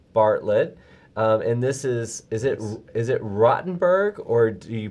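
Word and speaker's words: Rothenburg: And this is it Rottenberg, or do you pronounce it Rothenberg? Rotenberg.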